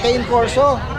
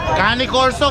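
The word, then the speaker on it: Cane Corso: Kuya Alvin can corso Kane corso kanny corso Kane corso Bahala na kayo diyan ayan guys sol Same lang ng pronunciation Oo bahala sila kung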